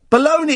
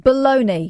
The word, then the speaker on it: Bologna: Baloney, it's pronounced baloney. Listen. Here we go, here it comes. Here it comes. Bologna sausage. Baloney. Sometimes phonetically spelt baloney.